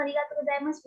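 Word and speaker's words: ありがとうございます: तो अरिगातो गोजाइमासु लिख रहे हैं हम, क्योंकि स्पेलिंग डिमांड करती है, पर अरिगातो गोजाइमास प्रोनाउंस कर रहे हैं, जैसे ऊपर भी हम प्रोनाउंस कर रहे थे, देस, देसु नहीं, त्रिवेदी सान।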